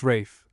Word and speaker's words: Ralph: The utmost of our knowledge only tells us that Sigard sire, the rough-coated Khali Barwell Ralph, pronounced Rafe, born September 3rd, 1894, was the son of Heather Ralph, a purple name with wind and ripples in it.